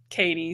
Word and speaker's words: Katie: kay is way easier so well that works so everyone always messes up my last name they say caddy but it's Katie so we'll stick with Katie better work dr.